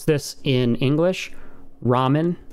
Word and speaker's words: ramen: pronounce this in english ramen right it's a real heart in japanese it's not er it's so you can probably hear the difference there it's a mix between r and l okay it's somewhere in